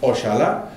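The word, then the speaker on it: oxalá: have one with j the one with x is portuguese which is pronounced ochala and the one with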